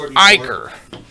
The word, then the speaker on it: Uyghur: themselves were pairing with words that rhyming as if it were a cur like the sticker ignor and the quicker eager in the but but the word is Uyghur it is it is